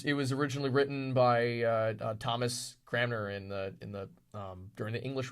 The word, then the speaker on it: Cranmer: I thought it Yeah. was Thomas Kramer. My apologies. No, you're fine. It's Cranmer.